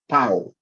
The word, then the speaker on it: Tau: Jadi huruf T itu rupanya abjad terakhir dalam alfabet Ibrani, dibacanya Tau.